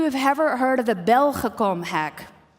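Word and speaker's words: Belgacom: ever heard of the Bell huh comb hack I'm pronouncing it in the Dutch way there's one person so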